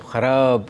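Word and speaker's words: ख़राब: Khayaal, Khwab, Kharab Such a good... Kharab. How do you say it? No, no, I mean... Teach me once. Kharaab. Yes, you are absolutely right.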